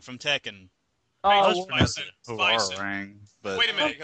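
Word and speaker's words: Hwoarang: Major Bison versus Hurang. Who? Hurang from Tekken. Oh, Bison. Bison. Huarang, but Wait a minute. Of course. But It's pronounced wait, you're talking about Huarang.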